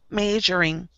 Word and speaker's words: measuring: Find your short E sound. Just do short E, not the word. Measuring. Please don't do the word. Do the short E. It's a little nasal.